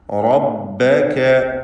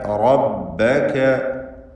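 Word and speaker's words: رَبَّكَ: റബ്ബക. റബ്ബക റ നല്ല പോലെ തടിപ്പിച്ച് സ്വരഭാരത്തോടെ ഉച്ചരിക്കേണ്ടതാണ്. റബ്ബക എന്ന് മലയാളത്തിലെ റ പറഞ്ഞാൽ മതിയാവുകയില്ല. അങ്ങനെ ഒരു ഹർഫ് അറബി ഭാഷയിലില്ല. റബ്ബക എന്ന് തഫ്ഖീം ചെയ്ത് തടിപ്പിക്കണം. ഇന്ന റബ്ബക.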